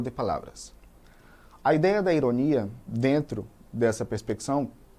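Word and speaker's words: ironía: No espanhol eu digo ironia, com a sílaba mais forte lá no final.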